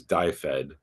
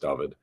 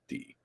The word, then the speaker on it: Dyfed: Anyway, as an additional note, American readers may read that as Dyfed. I guess in Welsh, and Welsh readers can correct me on this, it's pronounced Dyfed.